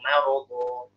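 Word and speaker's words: مرض: Fi qulubihim maradun fazadahumullahu maradun. Fi qulubihim maradun fazadahumullahu maradun. Bacanya maradun atau marad. Jangan fi qulubihim maradun fazadahumullahu maradun. Maradun jadi mo. Jadi jangan tebal.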